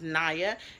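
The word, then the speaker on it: Niya: n i y a it's pronounced Nia not Nia not ninja not nibla not nabla and I've been called all those names and I tell people the I is long so it's NAA I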